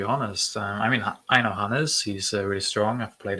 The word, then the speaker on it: Hannes: Hannes. Hannes. It's not Hans. Oh. There's an E between the N and the S.